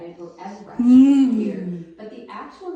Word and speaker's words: Everest: until 1865, when it was renamed in honor of Sir George Everest, E V E R E S T, like you spelled for me before.